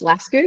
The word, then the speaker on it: Lascu: U my name is Laskco if you want to pronounce it not like the Aussies do. It's it's technically supposed to be Las, but um I'll take any version of that.